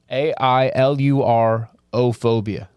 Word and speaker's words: ailurophobia: Allurophobia. Yeah. Allurophobia. AILURO-phobia. Oh, go back. Cats don't like to be stared at. So people who have allurophobia are more likely to attract cats because the animal feels more at ease.